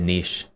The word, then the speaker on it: niche: the industry a niche is not is that not pronounce nich that's what makes the into a certain thing a niche thing Niche I I have always said Nish that's what makes the